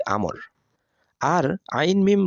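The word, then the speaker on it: عمرو: আছে আর তা হলো আইন মিম র এর পরে যদি ওয়াও হরফ থাকে তাহলে তার উচ্চারণ হবে আমর আর আইন মিম র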